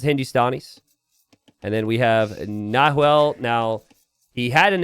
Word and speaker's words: Nahuel: Nahuel05. Okay. That H has no sound in Spanish.